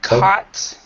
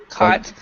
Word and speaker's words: caught: The first three, the GH, you do not pronounce at all.